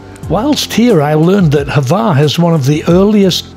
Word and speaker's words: Hvar: Do I say it right, Hvar?